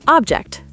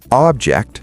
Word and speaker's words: object: Word number 17, object. Object, noun, a thing, versus object, verb, to disagree.